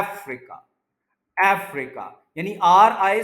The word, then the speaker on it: Africa: उसके बाद प्रोनाउंसिएशन जो है, उसमें एक वर्ड हम बोलते हैं अफ्रीका, एक कॉन्टिनेंट का नाम है, लेकिन ये वर्ड अफ्रीका नहीं होता। ये ए और एफ को आपने ज्यादा स्ट्रेस करना है, अफ्रीका, अफ्रीका, यानी आर आई